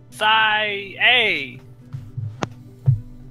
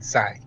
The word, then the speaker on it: Cy: Oh, I thought your name was Cy A. I prefer the pronunciation, Cy.